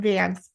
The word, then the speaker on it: Vance: Is it pronounced Vance or Vance or how? I want to make sure I'm getting your name. Van, Vance. Okay.